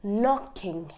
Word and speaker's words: knocking: knowledge knocking and kneading in all of these examples only an N is used there's no K so they can a has become silence and we are only using the n as in the pronunciation so that is rule number one silence K whenever a k is accompanied by an N the K becomes silent okay so rule number